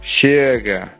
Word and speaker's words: chega: First, a sh sound, spelled with ch or with x. So in Spanish we have, Llega. but in Portuguese, Chega. meaning arrives.